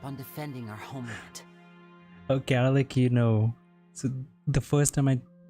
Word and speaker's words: Arlecchino: Okay, Arlecchino. So the first time I pronounced her name was right.